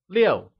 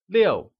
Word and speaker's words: 六: 6 translates to 六, and is pronounced with a falling tone, like 六.